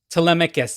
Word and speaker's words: Telemachus: I've always heard it pronounced as Telemachus. How do you pronounce? How have you know it? Telemachus.